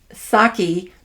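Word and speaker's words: Psaki: Jen which is a Jennifer sake P silent p s-a-k-i and she had the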